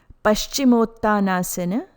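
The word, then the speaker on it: Paścimottānāsana: Please note, pronunciation is not Paschimottanasana. Correct pronunciation is Paschimottanasana. Paschimottanasana. Guide to pronunciations. Letter S with a slanted line on top sounds like sh, as in shine.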